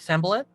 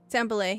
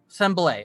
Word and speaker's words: Sanbalet: And he's going to look over and see that I'm saying it right, Sambalet? Sambalay, yep. Sambalay, okay.